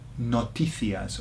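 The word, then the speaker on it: noticias: news in Spanish is notias or notias okay notias or notias depend on how you want to pronounce it and so it sounds like notices doesn't it notias so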